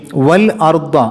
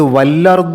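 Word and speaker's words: وَٱلۡأَرۡضَ: ഹംസയും വ്യക്തമാവുക പിന്നീട്മുതാമത്തെ ആയത്തിൽ വൽ അർദ എന്നുള്ള സ്ഥലത്ത് വല്ലർദ എന്നാവരുത് വൽ അർ അവിടെയും ലാമിന്റെ സുക്കൂനും ഹംസയും ശ്രദ്ധിക്കണം 3മആമത്തെ ആയത്തിൽ വലി അൻആമിക്കും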